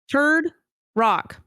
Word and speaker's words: Turok: How do you say it? Turok. Turd rock. Correct.